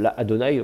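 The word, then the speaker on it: לַאדֹנָי: La Adonai, on avait une deuxième syllabe. Mais le Aleph va devenir quiescent, ça va faire la Adonai. Avec voilà, une voyelle ouverte et un A un peu plus long.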